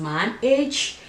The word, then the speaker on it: Maange: how effective it is I think it's pronounced my age according to the pronunciation or the spelling let me put it